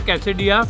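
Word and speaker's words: quesadilla: रख दिया कैसे दिया इसका नाम है कैसे दिया और एल साइलेंट है इसमें इसके अंदर इन्होंने स्टफिंग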